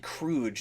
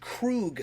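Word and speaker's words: Kruge: now you and I have always pronounced it crude it's pronounced Krug sometimes in the movie is it always pronounced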